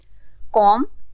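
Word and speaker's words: comb: pronounce नहीं कर रहे कॉम इसमें भी हम बी को प्रोनाउंस नहीं कर रहे रंग इसमें डब्लू साइलेंट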